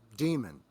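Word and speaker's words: Daemon: come out in the 20067 time frame called Demon, but it's spelled D AE M O N.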